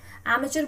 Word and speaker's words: amateur: सो amateur, the correct spelling is D. Okay, amateur basically इसका American pronunciation है. एंड if you talk about British pronunciation, so it is amateur.